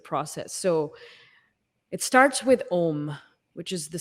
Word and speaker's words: Om: you break it down the sound ohm is actually three syllables of AA and MA and so what happens really